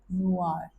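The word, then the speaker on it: noir: में आ रहा है, तो इस वर्ड को आप बोलोगे नुआर। नुआर means black. Black को फ्रेंच में नुआर कहा जाता है। तो देखिए, अभी आप इसके वोकैब मत सोचिए, आप सिर्फ इसको प्रोनाउंसिएशन देखिए कि अब इसमें आर आ रहा है लास्ट में, इट मीन्स कि आपको उसको बोलना है, ठीक है।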